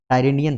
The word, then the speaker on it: Tyrrhenian: यहाँ पे जो सी है उसको हम लोग बोलते हैं टायरेनियन सी।